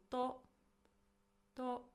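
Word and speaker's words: と: to to this is a connecting particle. It's pronounced as to and it means and in English.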